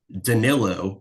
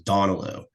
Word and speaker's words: Danilo: Everybody says Donilo. Like, where are you looking at that name and thinking that Donalo is how you pronounce this man's name?